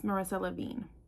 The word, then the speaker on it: Marissa Levien: Even though I messed up several times trying to say this book's title and author, I still said her name wrong. It's Marissa Lavine.